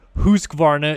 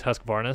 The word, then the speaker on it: Husqvarna: bmw harley-davidson husqvarna uh or husqvarna is the proper way to say it but everybody in america says husqvarna so whatever kawasaki ktm